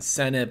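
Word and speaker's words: Sinnott: Ben Senate Ben Senate still not completely sure how to pronounce it because he said Ben Senate but people are still saying Ben Sate uh regardless he needs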